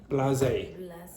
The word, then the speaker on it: blasé: continue to be so, how do you pronounce that word? Blasé.